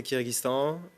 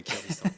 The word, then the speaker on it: Kyrgyzstan: En anglais, c'est Kyrgyzstan. Et après, en kirghize, c'est Kyrgyzstan. Kyrgyzstan.